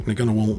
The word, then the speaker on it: Ngunnawal: Yes, that is how you pronounce that. Let's have a look. Ngunnawal needs a ton of gravel and a ton of rock.